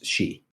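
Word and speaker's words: sidhe: it's spelled like that that's how you how you pronounce that word is she yeah that makes sense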